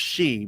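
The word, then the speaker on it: sidhe: it referred to as they're referred to as she in Gaelic but it's spelled s-i-d-e-h-e but that's pronounced she but that's what an elf is there's [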